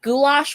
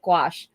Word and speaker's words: gouache: But Yeah, a lot of people pronounce it like gouache or gouache. I'm like, huh? Like, no. Like somebody called it goulash one time.